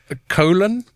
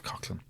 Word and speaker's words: Coughlan: The most common way to pronounce it is Coughlin. Coughlin, yeah. Right. But in Cork City and Kinsale, for some reason, we pronounce it Colin.